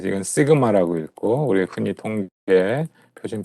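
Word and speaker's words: σ: 로우라고 읽죠. 그다음에 요거는요. 이거는 뭐 할 때 많이 나왔어? 통계에서 네, 이건 시그마라고 읽고 우리 흔히 통계 표준 편차 할 때 많이 썼죠.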